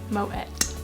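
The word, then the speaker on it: Moët: Yes, it's pronounced Moet. Yes, it is. German founder, but grown in the Champagne region, so Moet.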